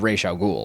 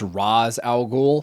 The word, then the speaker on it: Ra's al Ghul: introduce both Talia and Ra's al Ghul. Oh, sorry. I don't want to make myself seem like an idiot. It's pronounced Ra's al Ghul.